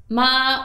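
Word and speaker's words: 妈: For example, in Mandarin, when you pronounce ma with a high level tone, it means mother.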